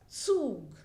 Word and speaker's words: Zug: So here the pronunciation is Zug.